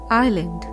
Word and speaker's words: island: is dead doubt s is silent and the word is Island W is silent and